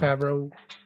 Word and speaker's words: Favreau: I think I pronounced his last name wrong. Favreau.